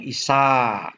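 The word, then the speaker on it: issā: Bahasa Palinya issa. A-nya ada tanda garis di atasnya, dibacanya panjang, isa, begitu ya.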